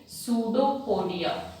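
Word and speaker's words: pseudopodia: In finger like projections को हम क्या नाम देंगे, सूडोपोडिया। पी इज साइलेंट, इसको क्या बोल रहे हैं, सूडोपोडिया, या we also call it as false fit.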